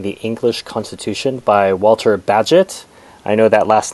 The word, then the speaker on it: Bagehot: english constitution by walter badgett i know that last name may throw you a bit b-a-g-e-h-o-t is pronounced badget it turns out and it was